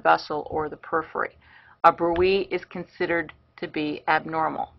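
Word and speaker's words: bruit: Now the last one is called brewy. That's the appropriate pronunciation. It's not brew it, it's brewy.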